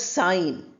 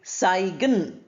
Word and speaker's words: sign: Look at the word sign. We don't say sigen. G is not pronounced here.